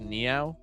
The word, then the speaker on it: Neow: Also, can we talk about how it's supposed to be pronounced Neow?